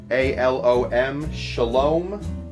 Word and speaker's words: Scialom: cocktails no it's uh weird uh how that's pronounced and spelled s-c-i-a-l-o-m shalom joe shalom he was the world's greatest bartender for many